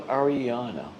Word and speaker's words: Arianna: So, Ariana, did I pronounce it right?